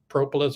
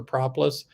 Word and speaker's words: propolis: the proper pronunciation of propolis or propolis I think both are fine I think they work it's like Creek or creek and so now I